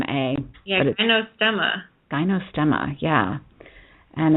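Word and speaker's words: Gynostemma: o o s t m m a yeah gyo stema gyo stemma yeah and it's some super potency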